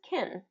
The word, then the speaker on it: can: The word can if you notice in native English speak, typically it really is pronounced as kin.